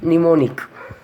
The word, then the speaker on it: mnemonic: Only one word is there, that is mnemonic. But the spelling of the letter is M-N-E-M-O-N-I-C. But we are not pronouncing the first letter, the beginning of the letter M.